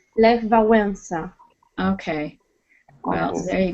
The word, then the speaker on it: Lech Wałęsa: Well, because in Polish you would also, we have some special letters and there are some commas above and under the letters. So it should be, the 2 letters should look a little bit different. So the right pronunciation is Lech Wałęsa.